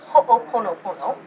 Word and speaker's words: Ho'oponopono: If you want the traditional pronunciation, it's actually Ho'oponopono.